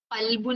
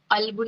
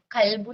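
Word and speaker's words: قلب: അപ്പോ ഇപ്പൊ നമ്മള് കൽബുൻ എന്ന് പറയണം. കൽബുൻ കുത്തുള്ള കാഫിന് കൽബുൻ എന്ന് പറയുമ്പോ ഹൃദയം എന്ന അർത്ഥം. അപ്പൊ അത് പുറപ്പെടേണ്ട സ്ഥലത്ത് നിന്ന് പുറപ്പെടണം. മറ്റേ കൽബുൻ എന്ന് പറഞ്ഞ വെറും കാഫായിരുന്നാലോ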